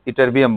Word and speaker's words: Ytterbium: Spelling YTTERBIUM है. ये टर्बियम लगता है, बट वो क्या है? इटरबियम बोलते हैं उसको.